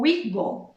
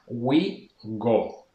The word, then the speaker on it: OUIGO: que é o wigle o wigle É assim que se pronuncia em espanhol é já as pessoas estão pronunciando de muitas formas diferentes porque o nome francês né prpria a própria empresa fala Wi go mas já ouvimos Wi